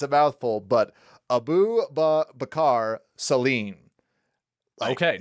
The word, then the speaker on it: Abu Bakar Salim: And I made sure to type out how to pronounce his name because it's a mouthful, but Abu Bakar Salim.